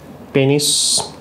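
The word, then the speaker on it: penis: এটি ছিল অন্ডকোষ, এইটি ছিল পেনিস, আসলে পেনিস আমরা বলি, আসল উচ্চারণ কিন্তু পেনাস।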